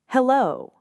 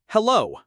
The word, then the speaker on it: hello: Hello, Remember stress on the second syllable of hello.